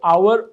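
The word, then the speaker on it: hour: Make कर रहा है, क्योंकि एच साइलेंट है, वो आवर ओ की कर रहा है, तो इसलिए एन आवर आएगा, ए आवर नहीं आएगा।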